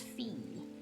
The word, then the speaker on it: Phi: Phi is pronounced fee.